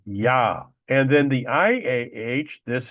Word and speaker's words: Yah: Of course, we know that there's no J sound in the Hebrew language. So the J is always pronounced as a Y. So it is pronounced Yah.